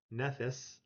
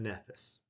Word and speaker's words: Nephthys: Not Nephys, but Nephthys.